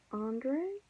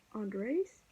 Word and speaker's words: Andreas: And I said to him, is your name Andre, or Andres, or Andreas? And he said, it's Andreas.